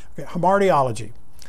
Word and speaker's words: hamartiology: is actually called hemardiology h-a-r-m-a-r-t-i-o-l-o-g-y homartiology might be an eye there okay there hamartiology so uh the reason